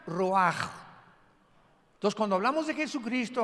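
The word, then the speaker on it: רוח: como suena con R de Raúl, ch al final, Roach y se pronuncia Roaj.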